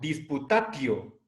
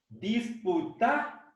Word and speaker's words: disputatio: Entonces, no leamos esta palabra como disputatio, sino disputatio. ¿Sí? La sílaba ti, delante de vocal, la vamos a pronunciar como sí, el sonido sí, disputatio.